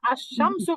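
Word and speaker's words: الشمس: দেখতেছি এখানে লামটা উচ্চারণ হচ্ছে আর যখন আমরা আশ শামসু পড়তেছি এখানে লামটা সাইলেন্ট থাকতেছে কারেক্ট লামটা তাশদি হ্যাঁ লামটা সাইলেন্ট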